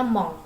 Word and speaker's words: mon: Jadi kalau mon dibacanya mong ya, mong ya. Jadi itu ada sengau di situ, eng ya.